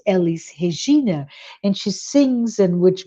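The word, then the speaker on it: Elis Regina: Brazilian musician uh um her name in Portuguese would be pronounced Elise hegeena and she sings and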